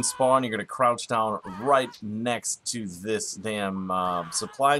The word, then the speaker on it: Reich: it amazes me that nobody knows how to pronounce right I mean I watch other YouTube videos and it's race or great it is right like a third right